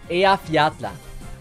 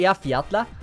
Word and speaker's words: Eyjafjalla: And I think I pronounce it Eyjafjalla, mainly because the mountain or the vulcan is also called Eyjafjalla cool. So that's why I say Eyjafjalla. Even though the JP voice acting doesn't say Eyjafjalla, I still think it's pronounced that way.